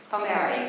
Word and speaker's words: Palmieri: Have I pronounced it correctly, Justice? Palmieri, of the United States District Court for the Southern District of New York.